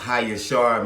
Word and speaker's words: Jasher: So we're going to go read the book of Jasher today, and I'm going to give y'all a little bit of information on that. Really, it's pronounced Hayashar, means Jasher.